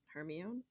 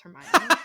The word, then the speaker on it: Hermione: trying to pronounce hermione in my brain i pronounced it hermione but it's hermione i didn't know that till i watched the